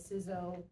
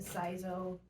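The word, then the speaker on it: CISO: officer which is called the cso the sizzo the sizo many different ways of pronouncing it i'm basically responsible for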